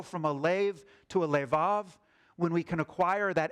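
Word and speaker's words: לֵב: The word for heart normally pronounced lev in Hebrew.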